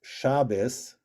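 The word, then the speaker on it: Shabbos: ashkanazi je pronounce it shabis and and the saric pronunciation is Shabbat also notice that the emphasis is in different places ashkenazic it's always on the penultimate shabus right shab shabus yeah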